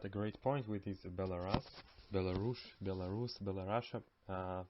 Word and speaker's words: Belarus: call them belarusians but they call their country belarus and not below russia concerning the ethnicities in